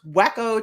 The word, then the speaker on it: Waco: It's pronounced Wacko, Texas.